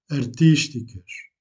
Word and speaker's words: artísticas: Vous accentuez le premier i ou la deuxième syllabe. Peças artísticas.